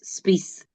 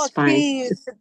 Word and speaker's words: Spice: I'm sorry, the correct pronunciation is Spice, not Spice.